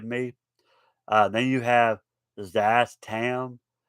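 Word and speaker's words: Szass Tam: uh then you have zazz tam i think the the s it's spelt s z a s i'm assuming the first letter is silent or zastam or zastam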